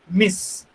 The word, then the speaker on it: Ms: मिस. इसका pronunciation, इसका उच्चार मिस है.